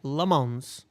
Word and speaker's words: Lammens: Lammens.